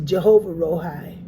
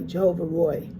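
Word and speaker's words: Jehovah Roi: And it's R O I that's Roy. Jehovah Roy.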